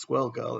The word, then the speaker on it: Squirrel Girl: until I realized that the whole thing was supposed to be rhyming so it's swirl girl and that's for example